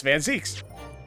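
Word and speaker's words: van Zieks: killed inspector Gregson also it's van Zeeks I thought it was like this entire time you know we're in the second game like so many hours in I've been saying it wrong the whole time besides like I said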